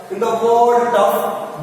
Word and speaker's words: tough: In the TYGH, in the word tough, GH makes the sound like F sound.